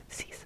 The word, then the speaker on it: six: page all right now six is really easy spelled the exact same s iix but you got to throw that French accent on there so CE so it's just siix but like CE and then um seven